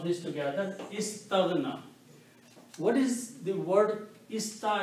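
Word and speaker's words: استغنى: Okay, it becomes istaghna. When you pronounce this together, istaghna.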